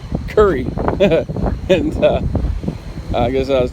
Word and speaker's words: Kure: So I guess I have to stop calling it Kure Beach. I've been informed it is Kure Beach, K-U-R-E, but it's pronounced Curry.